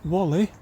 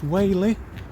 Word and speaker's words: Whalley: uh in the town of uh wh not Wally even though it's spelled w a w l e y I'm assured it's pronounced wh the perhaps uh sick and tired of the